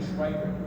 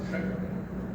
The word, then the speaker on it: Schweikart: The German W is a soft one, so it wasn't a huge change phonetically. I've been saying Schweikart, it's more like Sheckard.